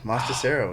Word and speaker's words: Mostacero: up your last name no no that was right on master cerro yeah yes it is it's pronounced exactly how it's spelled too yeah yes it